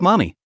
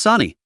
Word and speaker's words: Sani: who yelled, "Hurry up, Mommy. You're kind of slow. Let's get air." Sani almost lost it. It's not Mommy, it's Sani. How can you get both syllables wrong when there are only two?